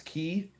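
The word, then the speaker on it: ki: It's uh but uh in Japanese it's key. In Chinese, it's chi.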